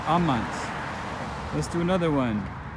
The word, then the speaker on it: amant: Amant. They love. The stress falls on the second to last syllable. Amant.